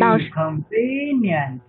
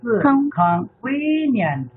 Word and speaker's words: convenient: 请注意，convenient 不是 convenient，不是 convenient，这个 v v 要上上牙齿咬住下嘴唇。convenient，再来一遍，again。